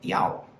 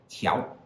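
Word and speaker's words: 调: So here's our second one, which can either be pronounced diao or tiao, both of which can have a variety of meanings.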